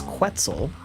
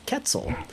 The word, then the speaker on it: Quetzal: And it's actually accepted by the scientific community that the British pronunciation is Quetzal, and the American pronunciation is Quetzal. And that's actually legit. So those are both completely right.